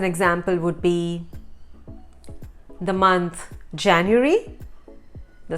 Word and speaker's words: Januar: Then some of the letters in German are pronounced differently than in English, like the letter J has a Y sound.